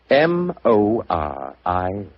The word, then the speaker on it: Moriarty: People will either misspell it or mispronounce it. I'm afraid I'll have to begin calling it the way it looks. M-O-R-I-A-R-T-Y.